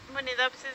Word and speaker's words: Munidopsis: i s but um probably I pronounce it munidopsis because my Spanish accent but unidop would be